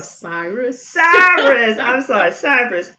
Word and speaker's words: Cyrus: Cypress. I always get your name wrong. Cyrus.